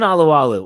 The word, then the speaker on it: Alualu: so we always do tyson oluwalu or lulu however you want to pronounce it i think lulu is the actual pronunciation of his name regardless what a crazy